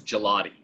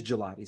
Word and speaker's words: Gigliotti: So it's the English version is Gigliotti. The English version is Gigliotti. So the other is silent. Yeah, the second in Italian is silent, yeah.